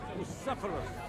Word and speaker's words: Bucephalus: What kind of name is this? Phallus? It's pronounced Bucephalus. Same to you.